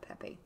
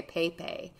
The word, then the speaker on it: Pepe: guy that owns uh pepe i always want to say pape but i have to like spell it out so i say it right your number seven